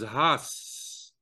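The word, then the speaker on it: הס: The word for be silent, the command, is has, which is kind of an onomatopoeia, since it sounds like the word hush.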